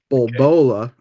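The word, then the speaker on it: Boulobra: orb bruh or worse the second one the way it is spelled is b-o-u-l-o-b-r-a so it's like Boulder and Cobra smooshed together right so the I'm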